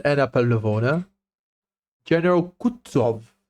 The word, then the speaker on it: Kutuzov: General Kutuzov, said Bolkonsky, speaking French and stressing the last syllable of the general's name like a Frenchman, has been pleased to take me as an aide-de-camp.